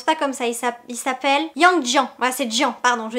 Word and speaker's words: Yang Jian: Je crois que ça se prononce pas comme ça, il s'appelle Yang Jian.